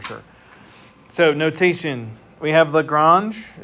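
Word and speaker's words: Lagrange: So, notation, we have Lrangege is how you say that. Some people say Lrangee, but that's not correct.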